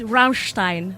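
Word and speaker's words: Rammstein: is from Ramin dast it's Ramstein that's how you should say it yeah no okay now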